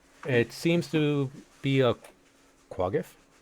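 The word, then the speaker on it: quaggoth: It seems to be a quagif. Or is it quick off? We're going to quick off. Quick off. I like the way Tree pronounces it. Quaggeth.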